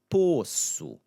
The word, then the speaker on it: poço: And then poço, poço, right? That same O sound, poço.